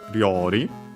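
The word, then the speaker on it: 料理: So something technically uh then we have Riori. Uh it's a Chinese compound means cooking uh technically then by extension uh cuisine food dish accent on the first syllable. So it's one of those uh Rori uh then we have the object particle.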